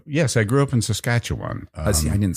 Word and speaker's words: Saskatchewan: know this I yes I grew up in Saskatchewan um see I didn't say it correctly did I yeah Saskatchewan okay Saskatchewan Eastern Canadians call it Saskatchewan and